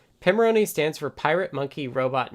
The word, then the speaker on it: Pimoroni: From their shop, Bruce says, Pimoroni stands for Pirate Monkey Robot Ninja, and sounds like the name of an expensive Italian lager. It's pronounced Pimoroni from their shop.